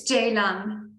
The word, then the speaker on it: Ceylan: Yes, it's Ceylan. Oh, that's a beautiful name. Thank you. It's from Turkey. I'm Turkish, so that's why that C is pronounced as a J.